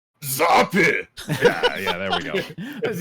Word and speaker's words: Zappe: It's not Italian. It's German, specifically Bavarian. Yeah. I'm glad we got all that cleared up for him. Hey, there we go. So it's probably more like Zappe.